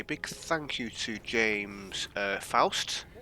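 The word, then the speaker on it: Foust: thank you to James Faust. I think that's pronounced Faust, F-O-U-S-T.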